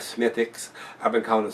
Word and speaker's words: Smithwick's: of the beers, like Smithwick's. I've been calling it Smithwick's. The W's, from what I hear, is silent on a lot of stuff over there.